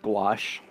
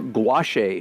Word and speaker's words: gouache: a fresh tube of white gouache or gouache a for those of you who don't know how to pronounce the word like I didn't for